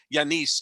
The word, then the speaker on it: Giannis: turning everybody off by saying yanis instead of giannis because that's the correct way to say his name and yes about this